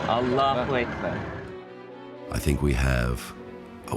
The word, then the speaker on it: Allah: complications of language infliction is on the second syllable Allah I think we have a wonderful story I